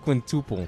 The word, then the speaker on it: quintuple: Did you know it's actually pronounced quintuple? No, I'm serious. Yeah, if you're from Silly Goose Town. No, I'm serious, Gabe. It's pronounced quintuple.